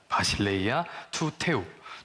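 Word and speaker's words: βασιλεία τοῦ θεοῦ: 바실레이아 투 테우라고 읽습니다. 바실레이아 투 테우.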